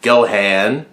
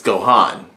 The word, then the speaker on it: Gohan: Gohan's name which was they called it go hand so I'm like it's go hon but no they call